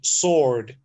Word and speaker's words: sword: So it's double-edged, and then you don't pronounce W, and you pronounce it sword, a double-edged sword.